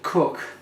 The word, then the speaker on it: Coke: Known as a Coke, pronounced cook.